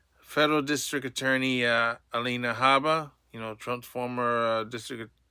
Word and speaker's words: Alina Habba: New Jersey DA Ella Haba to open investigation to Governor Murphy's over state refusal to assist ICE Alina Haba.